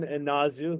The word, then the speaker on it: Inazu: Am I pronouncing your last name correctly? Oh yeah, you got it. It's Inazu, but you should call me.